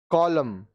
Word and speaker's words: column: Column, पृष्ठ का भाग.